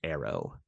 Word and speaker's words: ARO: augmented reality objects or Aro pronounced Arrow so like args yes